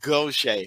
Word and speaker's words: Gautier: that's one of those cajun things where it's pronounced gaucher right right so not too far from me